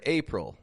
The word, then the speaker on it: April: Check out that word, April. April. That word is ending in this sound like ul. However, it's spelled with an IL.